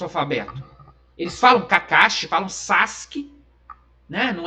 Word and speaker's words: Sasuke: sabe muito bem que o U nessa situação é mudo, então é Sasuke, né? Escreveu lá com U, mas o U não é igual a Akatsuki, né? Tá escrito Akatsuki, tá escrito S-U, mas a gente fala Akatsuki, né?